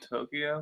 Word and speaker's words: Towkio: So, oh, Tokyo Swim single. You gotta check that one out. Tokyo. Yeah, it's spelled Towkio.